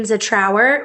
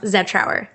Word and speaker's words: Zetrouer: Now, a lot of people around here do call me Zetrouer with the emphasis on our. And I will accept that. That's close enough. Okay. But it's technically pronounced Zetrouer.